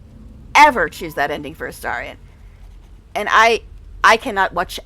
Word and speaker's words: Astarion: don't know why you think his name is pronounced Aarion or Aarion. It's Aarian. It's pronounced many times in the game. Three or four times in just that conversation. It's Aarian.